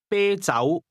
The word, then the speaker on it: 啤酒: This is pronounced with a high, level tone, followed by a mid-rising tone. Say again, beer. 啤酒、 Try to say some beer or a little beer.